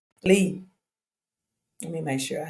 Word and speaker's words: Les: I always call him Les. He know that it was Lee.